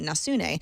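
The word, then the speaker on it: nasne: the Japanese market now it's called n nasun he actually phonetically spelled it for me thank you n a s n e nasun as in Neptune a network digital video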